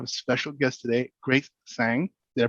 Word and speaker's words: Tsang: realty i have a special guest today grace sang did i pronounce it correctly yep grace tell us basically